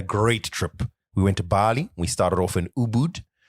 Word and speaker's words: Bali: the local dialect cuz you keep keep saying Bali sort of like Bali. It's Bali. Is that how they pronounce it locally?